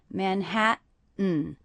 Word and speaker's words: Manhattan: That would be Manhattan, but I'm saying Manhattan with a little break. That means these T's are stop T's. In Manhattan, in Manhattan. Also, the last syllable, is really just the N sound. So the letter A there is representing the schwa sound.